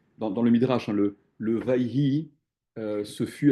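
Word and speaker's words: ויהי: En fait, la vraie prononciation, pour mieux comprendre ce Midrash, c'est why. Why, why, why.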